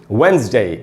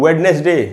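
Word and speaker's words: Wednesday: तो दोस्तों इसको हम पढ़ेंगे वेंसडे, इसको हमको वेडनेसडे नहीं पढ़ना चाहिए। तो वेंसडे या वेंसडे ये 2 उच्चारण है।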